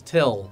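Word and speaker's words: Thgil: He tells them his name is Till, but it's spelt T-H-G-I-L.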